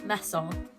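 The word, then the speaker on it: mäso: So we would say meso, even though it's spelled like a maso.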